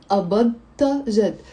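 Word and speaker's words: قبضت جد: So the verb is أبضت plus the a, but we're not going to pronouncing أبضت, أبضت. No, we kind of merge the da and the ta, and we say أبضت جد.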